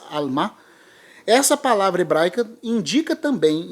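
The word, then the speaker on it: עלמה: hebraica para virgem ali, que se eu não me engano é Alma, em hebraico, eu posso estar pronunciando um tanto errado, mas a palavra é essa, mais ou menos essa, Alma.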